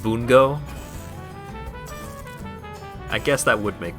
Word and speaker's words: Bungo: a new season of bungo oh wait no you're actually you're you're genuinely excited about that oh okay I thought you were making a joke oh okay it's pronounced Bongo I guess that would